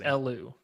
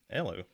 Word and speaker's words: Elu: It's just pronounced Elu. Elu.